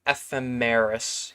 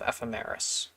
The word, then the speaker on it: ephemeris: f f FM H I always struggle to pronounce this word um someone has a phonetic in here time of ephemeris yes time of ephemeris that's essentially uh computer time of liftoff it's